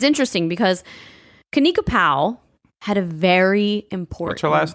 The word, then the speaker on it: Powell: Powell I thought you said pow like when Batman punched the Joker in the in the TV show like pow I probably said it like that but it's Powell Powell yeah so Kena